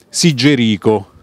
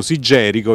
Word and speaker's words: Sigerico: poi è diventato arcivescovo, Sigerico. Molti pronunciano Sigerico, io però preferisco Sigerico perché chiamo Federico e non Federico.